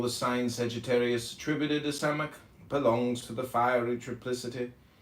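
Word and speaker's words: Samekh: Samek, pronounced Samek, transcribed as S, the number 60, meaning prop, support, the intelligence of probation, trial.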